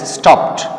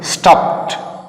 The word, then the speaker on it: stopped: তো এখানে যে ডিটা আছে এটা কিন্তু টি ধ্বনিত হয়, স্টপড। তুমি স্টপেড, স্টপেড এরকম উচ্চারণ করবে না, উচ্চারণ হবে স্টপড, স্টপড, স্টপিং, স্টপস, টু স্টপ।